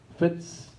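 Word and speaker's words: VIDS: want to tell you about Vitz that is pronunciation in in Dutch fits is the association of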